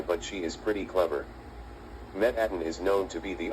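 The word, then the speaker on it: Mettaton: It's supposed to be Metatton, not Metatton.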